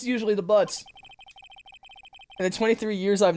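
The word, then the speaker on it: Butz: Larry Butts. My best friend since grade school. Most unfortunate last name. It's spelled B-U-T-Z.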